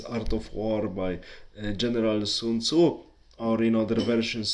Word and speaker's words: Sun Zi: so translated as Art of War by General Sun Tzu, or in other versions Sun Zi in other translations, his name is pronounced like this, tells attack what's weak.